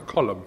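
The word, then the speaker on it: Colm: o l u MN like column like a column yeah like a Rowan column yeah isn't his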